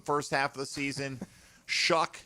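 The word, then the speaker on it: Shough: Shuck may rhyme with suck. It actually does.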